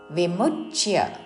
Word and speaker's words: విముచ్య: పరిగ్రహం విముచ్య నిర్మమః శాంతో విముచ్య మూ మీద ఆఘాత పక్కన చాకి యావత్తు విముచ్య నిర్మమష్ నిర్మమష్ విసర్గ ఉచ్చారణ తాళవ్య